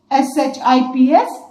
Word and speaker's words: ships: Ship, the plural of ship is ships, S-H-I-P-S, ships, S-H-I-P-S, ships. Remember to pronounce it correctly as ships. कई लोग इसको sips बोलते हैं.